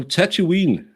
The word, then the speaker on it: Tatooine: like Star Wars no Tatooine is Tatooine I say tattoo is it because I say the second o as a u yeah you say it